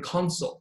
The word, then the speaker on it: consul: 这个后面是 consul, c u n 啊，consul.